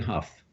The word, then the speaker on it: Hough: remember he's a BAFTA nominees was real Huff yes and his Instagram is real Huff but if remember that Huff is Hou G H and not H uff why don't you spell it h uff to